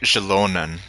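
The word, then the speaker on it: Xilonen: Okay, Shilonen is her name. Well, how you pronounce it, rather.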